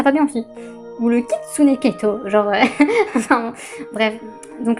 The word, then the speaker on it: kitsune: Ouais, voilà, Kitsune. J'avais à peu près raison. Sur la prononciation, le U on l'entend, enfin le OU on l'entend un peu quand même.